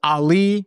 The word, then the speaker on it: Aly: My name is Ali, pronounced like Muhammad Ali.